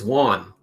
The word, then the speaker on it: Juan: It's Juan. Juan. You had Juan. He says it like if you were saying on, and then he puts a W in front of it.